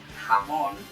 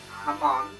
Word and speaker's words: Hamon: It introduces the power of, get ready for it, Hamon, not Hamon, like, H-A-M-O-N, or whatever it's spelled. J-A-M-O-N, like, Spanish for ham. Yeah, that's right, it's ham in Spanish, Hamon.